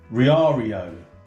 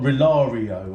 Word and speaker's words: Riaario: it is that junai it's r-i-a-a-r-i-o riario not relario or rialio or what rather saying before anyway